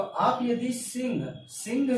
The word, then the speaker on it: सिंह: तो हो गया ये मेरा सिंह हो गया।